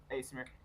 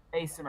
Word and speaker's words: Aasimar: Well, there are two types of Asimir. Their Asimir can be born of humans, Mhm. or they can be spawned, just like tieflings. What is his race? Asimir. Asimar.